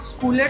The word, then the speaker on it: scholar: You used a word स्कॉलर. उसकी pronunciation पे ध्यान दो. That is नॉट स्कूलर, that स्कॉलर. ओ की साउंड है इसमें.